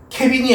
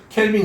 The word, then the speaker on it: 켈빈: 이거 읽을 때는 사람의 이름을 따서 켈빈이라고 읽으셔야 됩니다. 켈빈. 케빈이 아니야. 케빈은 그 저기 미니온즈 미니온즈는 그 슈퍼배드 애니메이션에 나오는 케빈 그거 얘기하는 게 아니고 켈빈 이 사람의 이름을 앞자를